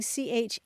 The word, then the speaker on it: charivari: Yeah, you mentioned the spelling charivari, which is a word in French that may be the source of it.